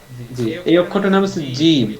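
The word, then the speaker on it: جيم: এই অক্ষরটার নাম হচ্ছে জিম এটা বলার সময় আমার গায়ে যত শক্তি আছে সমস্ত শক্তি দিয়ে এটাকে জোরে আঁকে ধরতে হবে তারপর বলতে হবে জিম জিম একটু মোটা করতে হবে জিম জিম মাশাল্লাহ একটু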